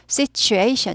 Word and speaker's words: situation: 그 situation에서 t가 t 발음이 취 발음이 나는 국외음화라고 합니다. 그래서 발음 부드럽게 되죠. 그래서 situation 이렇게 되죠.